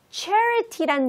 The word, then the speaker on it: charity: Charity란 단어는 입술을 좀 내밀어 주셔야 돼요. 그래야지 charity, charity라고 정확한 발음이 나니까 주의하면서 두 번 읽어보겠습니다.